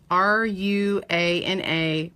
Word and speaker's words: Ruana: You spell it, if you want to search the pattern name, it is R-U-A-N-A Poncho.